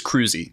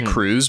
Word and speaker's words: Kruse: board to kind of no it's it's Kruse and it's I think the way you actually pronounce it no it's because they they did uh they had a pronunciation guide in his son's obituary uh so uh I'm pretty sure it's cruisy cruisy okay I keep